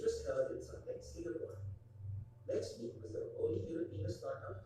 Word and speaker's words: LexMeet: Valderrama and his team as LexMeet, which rhymes with Let's Meet.